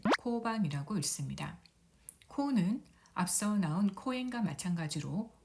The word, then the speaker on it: 公園: 공원이라는 한자를 써서 코엔이라고 읽습니다. 코를 보면은 오 모음 뒤에 우 모음이 와서 오 장음으로 발음하면 되겠습니다. 코엔, 코엔, 코엔.